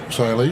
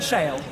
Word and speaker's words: Shale: Now, I'll bring up Shaylee, is that right? Shale. Shale, just Shale. Shale. Don't pronounce the E on the end, No.